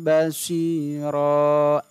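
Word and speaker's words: بَشِيرًا: ada samiyang Hm basyiron tulisannya begitu tapi cara membacanya harus lewat atau diganti karena di bagian di atas ini dijelaskan bahwa fat Hain diganti menjadi Fatah biasa maka cara membacanya samiam basyiroh tidak boleh dibaca Ron karena dia iwad maka fathatain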